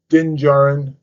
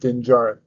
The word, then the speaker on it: Din Djarin: the desert, and then she eventually runs into Din Djarin, as everyone knows, is the Mandalorian, who's also part of the Book of Boba Fett series.